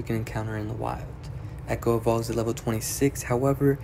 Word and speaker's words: Ecko: Echo is the baby leaf gecko Pokemon. The name is pronounced Echo, but it's spelled E-C-K-O, so it's just like pronounced like the normal word echo, but it's spelled differently.